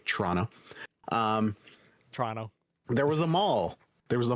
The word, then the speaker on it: Toronto: Toronto, Ontario, and yes, I know I pronounced it wrong. I just wanted to be very clear for our friends who don't pronounce it the proper way, Toronto.